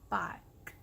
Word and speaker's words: bike: It's not E, it's I, bike, and the E is not pronounced.